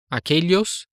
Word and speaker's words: aquellos: E, na terceira linha, observem que, com exceção da primeira forma aquele, todas as outras têm duplo L, que tem o mesmo som do LH em português. Escuta a pronúncia. Aquellos, aquella, aquellas, aquello.